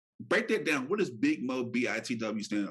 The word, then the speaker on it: Big Mo BITW: What does Big Mo BITW stand?